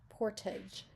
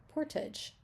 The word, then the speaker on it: portage: how to pronounce it it says p r and then we have our little Dot and then it says t h j Taj Portage Portage Portage you might have